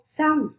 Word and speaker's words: xong: Một, xong. Các em đọc đúng cho cô âm sờ trong tiếng xong.